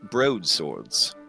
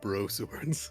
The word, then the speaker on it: broadsword: It looks like they are working on some broadswords. An elegant weapon from an earlier age. He said bro swords. Broad. It's pronounced broadsword. Oh. Broadsword. Yeah. Bro story, okay. Broad. You got the D in there.